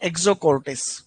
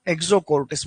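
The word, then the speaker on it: Exocortis: एक्सोकोर्टिस, ठीक है, ये जो शब्द लिखा हुआ है ना इसका उच्चारण है एक्सोकोर्टिस। रोग है, आगे पढ़ेंगे वापस, है ना। एक्सोकोर्टिस बोलते हैं इसको, एक्सोकोर्टिस।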